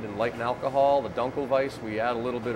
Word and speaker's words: Dunkelweiss: How do you pronounce it again? Dunkelweiss.